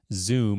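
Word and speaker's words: Zūm: They've got their new Zoom, and that's spelled ZUM, wireless lighting control solution.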